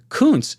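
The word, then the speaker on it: Kuntz: athletic freak this is Zach Coons is how you say that last name I uh may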